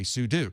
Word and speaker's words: sudo: doing something you're doing something so I say sudo same reason in Linux you'll hear people say